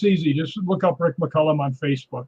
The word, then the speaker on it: McCallum: name is mccollum because it's named after saint columba so it's pronounced mccullum but it's actually like